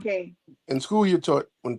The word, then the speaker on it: Keene: If you haven't been to Keene, it's a great It's event. called Kane.